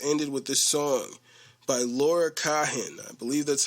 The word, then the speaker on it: Laura: last episode was ended with this song by Laura Cahen. I believe that's how you pronounce her name.